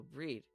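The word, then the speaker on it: Bríd: Brid, an Irish version of the name Bridget. A famous Irish saint. It's pronounced with a long e similar to the Irish word breed. Bridget. Oh, breed.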